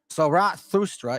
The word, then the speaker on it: Zarathustra: Zarathustra is the best approximate on how to pronounce his name.